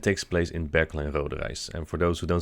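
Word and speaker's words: Rodenrijs: This event takes place in Berkel and Roderijs, and for those who don't speak Dutch and believe this is not a real word, the I and the J together is pronounced as I.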